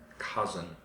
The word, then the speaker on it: cousin: the sound in the first part of cousin cousin what about Nieto Nieto is grandson grandson exactly